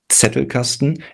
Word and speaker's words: Zettelkasten: It's Zettelkasten, and the clue is to, if the target audience is English or American speaking, the clue is to treat this as if there was a T leading the word. So you have a tongue T sound at the beginning, which usually with a